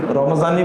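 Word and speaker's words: رمضان: যেমন আমরা রমজান বলি না, রমাজান বলি, ওখানে জোয়াদ আছে, কিন্তু কাদি বলি না কাজী বলি, কাজী, ওখানেও কিন্তু জোয়াদ আছে।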